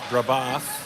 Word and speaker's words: Brebeuf: I was saying the name wrong. It's Brebeuf, and they are from Indianapolis.